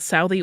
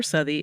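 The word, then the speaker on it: Southey: kerid and Robert soui you can say that Sai or syi according to pronunciation guides uh and some of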